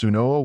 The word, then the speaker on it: swnw: Doctors, or SWNW, pronounced Sunoa, were respected practitioners, and